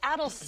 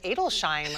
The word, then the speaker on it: Adelsheim: again I will say I've been saying it wrong for years I think many people this morning said just so you know it's adults I'm I think I've called it a deletion or something for them any advice